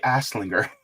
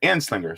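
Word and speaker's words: Anslinger: Edward coming in saying yay H boo Harry aslinger and Slinger an Slinger sorry I said that name wrong uh let me see Cobra Commander says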